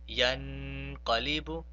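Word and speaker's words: يَنقَلِبُ: Therefore, we have to pronounce that nun sakin by suppressing the sound or by prolonging it for 2 seconds. Therefore, we pronounce this word as yanqalibu, yanqalibu.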